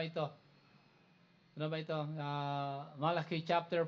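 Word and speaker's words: Malachi: Malaki that is ang tamang pronunciation niyan in Hebrew.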